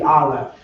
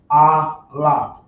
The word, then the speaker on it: Aleph: This letter right here is known as they call it the Aleph, but properly pronounced it be Aleph.